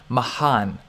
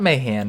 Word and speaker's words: Mahan: Another swing I could show you guys is Mr. Hunter Mahan. Okay, that's how it's pronounced. Not Mayan Mahan.